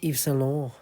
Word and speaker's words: Yves Saint Laurent: Say it properly. Yves Saint Laurent.